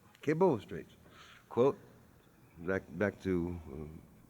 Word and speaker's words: Cabot: who's Cabot a Breton pronounced kebo kebo streets quote back back to for uh 39.